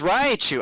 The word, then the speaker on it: Raichu: Because I've always pronounced it Raichu. Raichu. It's Raichu.